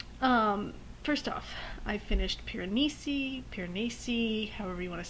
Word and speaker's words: Piranesi: no so anyway um first off i finished piranesi piranesi however you want to say it i'm going to say piranesi i looked it up it's the name of